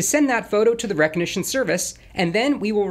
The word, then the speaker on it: Rekognition: Thankfully, the helpful people over at Amazon Web Services have created a service called Rekognition. It's spelled like Rekognition, but with a K since that sounds more trendy, I guess.